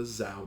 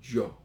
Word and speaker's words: Zhou: the third one is not the zhou dynasty i've already said this one a couple times but it's the joke dynasty i know whoever decided